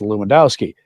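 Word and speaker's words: Lewandowski: stumble over the pronunciation of his last name, pronounced Luwendowski, leading many to call him Bishop Bruce."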